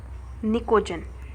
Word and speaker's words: pnicogen: You know, nitrogen family also known as nicogen. Why they are called nicogen? In nicogen P is silent.